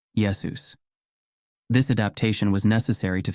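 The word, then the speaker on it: Ἰησοῦς: or letters for example Greek does not have a sh sound found in Yeshua so the Greek form became Yus Greek also required masculine names to end in s leading to the final form yesus this adaptation was necessary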